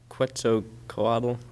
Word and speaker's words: Quetzalcoatl: Quetzalcoatl. I don't know if I pronounced that right.